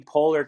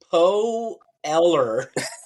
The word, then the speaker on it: Poehler: he announced it Amy Poe Eller, like P-O, so like phonetically spelling it Oh, out or Paul saying it like Eller.